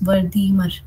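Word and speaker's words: Wertheimer: अब इसके फाउंडर थे मैक्स वर्दीमर। ठीक है? इनका प्रोनाउंसिएशन मैक्स वर्दीमर।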